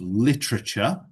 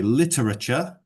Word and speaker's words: literature: Next is the pronunciation of literature. So you could say literature or literature. Both are okay. But you don't need to overpronounce the A. So people always say literature. You don't need to do that.